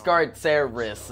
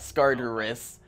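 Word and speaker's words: Skartaris: people in scaras scar okay it's Scaris not scarus even though like scarus rolls off the tongue bed in my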